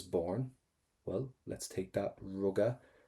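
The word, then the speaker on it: rugadh: If you want to just go up to the letter A, ruga, that's perfect. You've got loads of ways of pronouncing this, but let's go for ruga.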